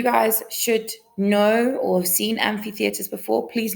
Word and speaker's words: amphitheatre: should know or seen amphitheaters before please not it is pronounced and fee and not MP theater it's an amphitheater all right this is